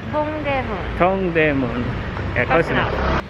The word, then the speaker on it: Dongdaemun: Dongdaemun. Dongdaemun.